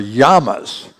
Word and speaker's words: llama: l m a llama these animals are yamas Double L M A in Spanish a Double L is a y sound so that's uh those are yamas anybody know what it